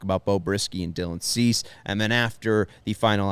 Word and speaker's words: Cease: the detroit tigers versus dylan cease is that right cease is that how you say it dylan c e a s e cease never heard of him